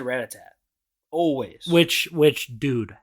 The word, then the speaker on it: Rattata: Because sometimes it's weird because the Pokedex says Rattatat, but some people say Rattata. Rattata, yeah, that's what it is.